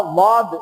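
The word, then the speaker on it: ض: உதாரணமாக வாத என்பது இருக்கின்றது. சாதுக்கு அடுத்ததாக வரக்கூடிய வாத இருக்கின்றதே அது எப்படி உச்சரிக்கப்பட வேண்டும்? நாக்கினுடைய இரண்டு ஓரங்களும் இரண்டு கடைவாய்களிலே கடைவாயுடைய இரண்டு பகுதிகளிலும் அடிபடக்கூடிய அளவுக்கு அதனை உச்சரிக்க வேண்டும்.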